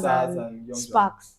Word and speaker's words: Spax: Sparks. No, Sparks. It's spelled SPAX.